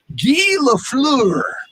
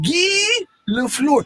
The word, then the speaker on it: Guy Lafleur: It's spelled Guy. I don't want you to say, hey, I'm Guy, because a man is only a guy. I'm Guy Lafleur. No, I'm Guy Lafleur. It's French. Well, then it'd be like Guy Lafleur.